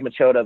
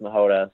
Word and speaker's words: Machota: So it looks like Machota, but it's pronounced Mahota.